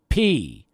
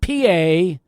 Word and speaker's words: Peay: But it's pronounced P, not P-A. It's P.